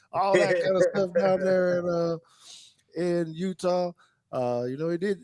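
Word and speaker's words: Eutaw: today this guy was born in Utah Alabama that is not that is not spelled with a u that is spelled e u or or not a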